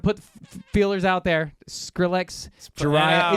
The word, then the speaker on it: Jhariah: feelers out there Skrillex Jah is it by the way jiah am I pronouncing it correctly got it what's what